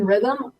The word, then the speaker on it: Rithmm: So think algorithm with another M. That's kind of where Rithmm came from, and just getting into the rhythm of the sport.